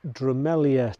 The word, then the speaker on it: Drumelzier: The silent Z happened when early medieval manuscripts replaced an ancient Gaelic letter in the shape of a Z with a tail, and that Z letter was pronounced Y.